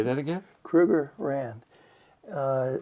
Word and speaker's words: Krugerrand: Krugerrand. Say that again. Krugerrand Uh it's Johan Kruger and their uh their monetary um measure is a rand. So, it's a Krugerrand.